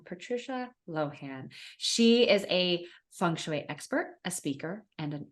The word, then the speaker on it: Feng Shui: Am I saying Feng Shui right?